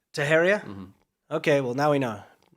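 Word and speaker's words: Teixeira: up big time this guy um taheria is pronounced taheria taheria okay well now we know are you sure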